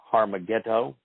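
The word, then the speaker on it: Har Megiddo: And I understand it's different than the Hebrew pronunciation. It's Harmageddo, is where the rendezvous will occur, then the final battle is around Harmageddo, but it is there that Yehudim will be restored.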